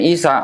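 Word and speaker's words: عيسى: Kalau orang Arab bacanya Isa. Orang Aramaik bacanya Iso. Orang Romawi bacanya Isos. Atau orang Latin bacanya Isus gitu.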